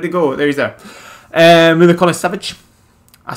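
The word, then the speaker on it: Milinković-Savić: Milikona Savic.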